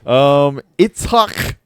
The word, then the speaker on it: Itzhak: Itzhak Bentov. Itzhak Bentov. Common spelling. Itzhak Bentov. Oh, Itzhak. Isaac Bentov. No, Itzhak Bentov. That's how you pronounce it.